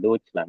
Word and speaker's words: Deutschland: Ich wohne Deutschland, jangan Deutschland ya, tapi Deutschland.